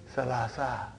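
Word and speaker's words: ثلاثة: But in pronunciation we will say salasa.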